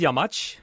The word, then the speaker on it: Yamaç: So my name is Yamaç, Yamaç. It can be pronounced with two parts. Ja, as in German, yes. Much, as in I love you so much.